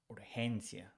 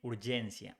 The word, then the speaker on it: urgencia: When it's followed by E or I, it's pronounced like H in English. So urgency becomes urgencia. We don't say urgencia, we say urgencia.